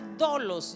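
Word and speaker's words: δόλος: La palabra engaño es la palabra dolos, lleva tilde en la primera O.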